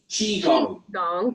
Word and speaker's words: Qigong: Am I pronouncing that correctly, Kevin? For not not far off is Chiong, thank you for over 15 years.